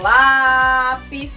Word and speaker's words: lápis: O lápis. A gente viu que o lá é o mais forte.